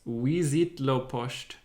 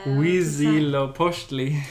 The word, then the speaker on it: Huitzilopochtli: So here is actually a way to pronounce it. So it's Huitzilopochtli. What the? How the? Huitzilopochtli.